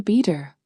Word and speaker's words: better: The word better becomes a beater.